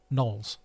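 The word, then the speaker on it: Knollys: l l y yes nulls oh is it nulls I think so oh I guess would it be oh no come on let's make it nullis nulls I suppose the Y is silent would it be back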